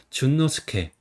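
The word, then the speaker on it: 淳之介: 그다음에 뒤에 이름은 이제 순박할순 갈치 깨입니다. 그래서 깨 같은 경우는 아까 배웠죠. 뭐라고 읽죠? 스케라고 읽었죠. 그다음에 갈지 같은 경우는 이거는 노라고 읽어 보통 읽어요. 이름에서. 그다음에 순박할수는 이제 준이라고 있습니다. 그래서 준노스케. 13번은 앤도와타르입니다.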